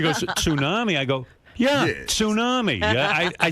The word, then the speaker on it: tsunami: know, they're carrying on like they're expecting a tsunami and she goes and she goes she goes tsunami. I go yeah tsunami.